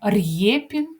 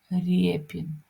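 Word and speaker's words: Рєпін: р а нероздільно вимовляємо ми не кажемо р'єпін Ми кажемо Репін спокійно врівноважено Отож звіримося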